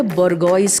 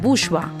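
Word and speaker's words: bourgeois: Spelling है बोर्गोइस करके। तो सब उसका प्रोनंसिएशन उसका स्पेलिंग से पढ़ते हैं। बोरगॉइस है मैम। तो मैं कहती हूं इसका प्रोनन्सिएशन है बुशवा।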